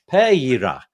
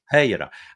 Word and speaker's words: Pereira: Pereira is how you say it. Yeah. Pereira.